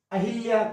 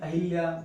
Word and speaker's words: अहल्या: अनुसूया, अहिल्या, कई लोग बोलते हैं अहिल्या, वो गलत है, अहल्या।